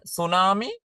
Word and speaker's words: tsunami: ඊළඟට අපි හැමෝම දන්න tsunami. ඒකේ T අකුරක් මුලට ලියනකොට ලියනවා. හැබැයි කියද්දි T කියවෙන්නේ නැහැ. එතකොට T තමයි silent letters වෙන්නේ.